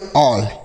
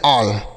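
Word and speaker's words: all: A double L इसे हम क्या पढ़ेंगे? ऑल। A double L ऑल। ठीक है? तो अगर ए के बाद डबल एल रहेगा तो औ का उच्चारण होगा।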